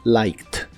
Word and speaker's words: liked: le agrega ed, y estas dos letras se pronuncian como T en esta palabra, así que la pronunciación es liked, liked, y lo usas en ideas como I liked the food, me gustó la comida.